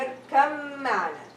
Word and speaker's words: اركب معنا: يا بني اركب معنا. اركب معنا. So the ba sound is dropped.